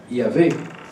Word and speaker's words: Yahvé: ah, c'est merveilleux ça, Yahvé, et qu'on ne prononce jamais, eh bien, qu'on retrouve dans Abraham, merci. Alors c'est un V ou un W, hein, c'est un vav en hébreu.